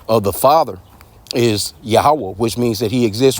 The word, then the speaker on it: Yahweh: No, you got to be pronouncing the name of the Lord the correct way, man. Yahweh, why Yahweh Shai.